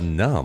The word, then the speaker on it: Numb: At the Numb. I think it's pronounced without the B though. I think it's a silent B.